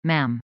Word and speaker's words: ma'am: Majesty, before switching to, Ma'am. Bonus points. And it's pronounced, ma'am, as in, jam, with a short, a.